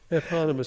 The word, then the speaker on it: eponymous: Eponymous. See, I can't say that word because it's 4 syllables, and cowboys are not allowed any more than 3 syllables. So It's actually 5 syllables.